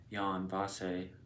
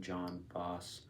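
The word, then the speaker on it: Jon Fosse: past year I read Yan vas which I've been pronouncing John boss um which is his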